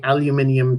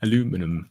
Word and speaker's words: aluminium: Megan V, hi Megan, has asked with a super chat saying, Ser Buckley, please say aluminium taco for us. This is a thing that apparently I say aluminium and taco in a way that Americans find amusing.